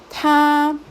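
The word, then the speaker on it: 他: Acá entonces tenemos el carácter de él y este se lee ta, es primer tono.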